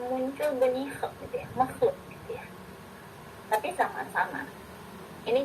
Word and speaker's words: makhluk: Jika kita melafalkan bunyi makhluk, makhluk, nah makhluk gitu, kho gitu yang keluar, bukan makhluk. Nah, biasanya pada setelah bunyi itu ada muncul bunyi kho gitu ya, makhluk gitu ya.